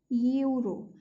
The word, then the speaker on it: euro: E is a vowel, but when we are pronouncing euro, what sound is coming? The sound is coming of U.